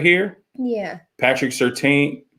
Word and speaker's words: Surtain: Patrick Surtain It's Surtain. Patrick Surtain II and J.C.